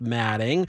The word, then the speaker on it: Alfombra: I place you in somewhat of the same category as Myron Alfombra, pronounced Manning, who manufactures an ever-growing Gerber toupee that can also be used as townhome carpet.